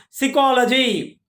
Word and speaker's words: psychology: Like psychology. P, it is started, though it is started with P, but it is not producing the sound. Zero sound. It is silent.